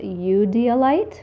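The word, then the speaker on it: eudialyte: to pronounce this correctly I believe is you D alight it's you EU dia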